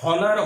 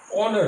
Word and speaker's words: honour: এটা কিন্তু এখানে তাহলে পরে HONOUR, হনার হওয়ার কথা ছিল, হনার হয়নি। কি হয়েছে, অনার হয়েছে। এখানে এইচটা বাদ দিয়ে উচ্চারণ হচ্ছে, দেখো ONOUR, অনার।